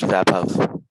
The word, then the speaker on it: Vaibhav: My name is pronounced Vapov.